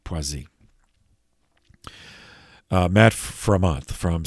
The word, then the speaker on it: Poissy: p-o-i-z excuse me p-o-i-s-s-y but the ss is pronounced as a z poisey matt for a month